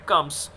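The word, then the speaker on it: crumbs: Ignore the bread कम्स, देखिएगा अब यहाँ बी साइलेंट, एम के बाद बी साइलेंट होता है, तो इसको क्रम्स बोला जाएगा।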